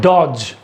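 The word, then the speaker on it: dodge: Next है डॉज। देख लीजिए, यहाँ डी है लेकिन एक डी आएगा, एक डी साइलेंट है।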